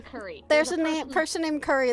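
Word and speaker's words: Kuri: Curry. There's a person named Curry. That's my brother. Her brother's name literally is Curry. It's K-U-I-R. It's R-I. K-U-R-I.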